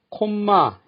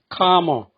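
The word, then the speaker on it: comma: 영어에서 겹자음은 하나만 소리낸다는 규칙을 잘 지키지 않아서 콤마, 햄머, 썸머, 런닝 소리를 자주 듣습니다. 카머, 해머, 서머, 러닝 하면은 원어민과 꼭 같아지는데 잘 안 고쳐집니다.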